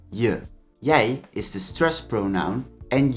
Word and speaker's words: jij: But pay attention because je and jij, as you can hear, are pronounced differently, and the difference in pronunciation matters.